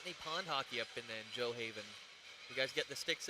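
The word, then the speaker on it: Gjoa Haven: Oh, Joe Haven. Joe Haven. Joe Haven. Cool. But the way you spell it. Is Joe Haven. The way you spell it is Gujoa Haven.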